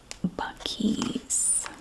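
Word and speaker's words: Buc-ee's: The name of the store is spelled thusly, Buc-ee-S. Buckies.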